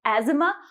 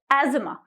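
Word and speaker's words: asthma: मात्रा नहीं लगानी है लास्ट में इट इस एजमा और आज़मा ठीक है राहुल सपर्स फ्रॉम आज़मा नेक्स्ट वैन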